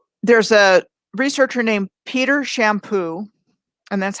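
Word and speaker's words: Champoux: the first video there's a researcher named peter shampoo and that's how he pronounces it he spells it c-h-a-m-p-o-u-x and i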